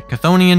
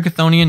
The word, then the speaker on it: Chthonian: It is, I think pronounced this way, Chthonian Nightmare. That's how I'm going to say it. It's like Cthulhu, right?